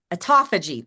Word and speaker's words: autophagy: Autophagy.